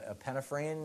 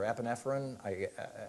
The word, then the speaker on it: epinephrine: The epinephrine or epinephrine, I think it's pronounced epinephrine.